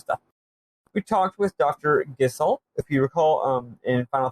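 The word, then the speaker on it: Gysahl: If you recall, in Final Fantasy, Gissel greens is what you give to chocobos. Not Geishel. All these years, they're not Geishel greens. I thought they were. Why would you pronounce it that way? Because I thought the H was in a different spot. Okay, I guess that makes sense. Still, I would say Gishel. Whatever, yeah, it's Gissel.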